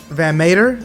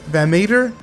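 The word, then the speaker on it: VanMeter: diamondbacks got that uh i always pronounce his name wrong you guys it's them van mater van meter um and faircha and child from from scentsy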